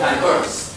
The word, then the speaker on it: diverse: On the second syllable, we're going to diverse.